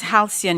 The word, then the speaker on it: halcyon: The kingdom's halcyon years seem like they would never return. Halcyon. Am I pronouncing the word correctly?